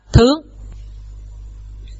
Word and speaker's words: thướng: Và cách đọc không phải là thượng nữa, mà sẽ đọc là thướng.